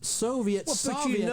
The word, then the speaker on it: Soviet: this particular say Richard can you say Soviet for me it's Soviet I mean have you ever heard it Soviet which is what a